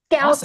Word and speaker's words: Skousen: Skousen. There's a lot of silent letters in that last name.